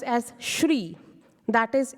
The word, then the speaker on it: Sri: not be pronounced as cry it can be pronounced as Shri that is s-h-r-e-e like three yeah and the last